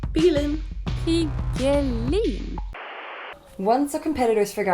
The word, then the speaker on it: piggelin: For those of you who aren't Swedish, pigelin is a classic Swedish icy treat, in this case made into the form of a hard apple candy.